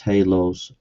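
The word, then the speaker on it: halos: radioactive HS good grief it's pronounced Hal laws see ad homin and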